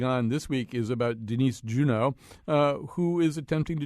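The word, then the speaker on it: Denise Juneau: a little bit more different tell us about Denise Juno am I saying it right is it Juno or Juno it's uh Denise Juno and uh the funny well I don't know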